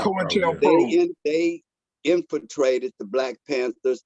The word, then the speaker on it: COINTELPRO: Marvin said that co-pro-trail, how you say it, Marv? Contrail or whatever. COINTELPRO. Right. COINTELPRO.